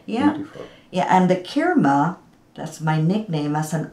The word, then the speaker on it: Kirma: I'm seeing K-I-R-M-A. And how do you pronounce it?